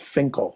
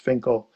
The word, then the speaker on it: Finchale: in a place called Finkel. It looks like Finchale or Finkale, but it's pronounced Finkel.